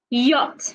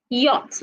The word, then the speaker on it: yacht: W woman women Wednesday y yach not yach yacht the CH is silent yogurt yellow so we